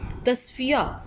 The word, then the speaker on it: تصفیہ: شین کے اوپر جزم۔ تصفیہ، تے کے اوپر زبر، صاد کے اوپر جزم، فے کے نیچے زیر،